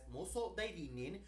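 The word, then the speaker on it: 妄想代理人: Hey everybody, it's Tony here with a review of Paranoia Agent, known in Japanese as Moso Dairinin, Wow. which first aired in Japan. I think he actually pronounced that correctly.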